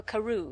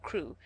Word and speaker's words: Crewe: Madame Pascal pronounced it as if it were Carew instead of Crewe.